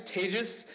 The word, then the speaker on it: Tejas: Anyway, as I said, my name's Tejas. That's pronounced like contagious disease.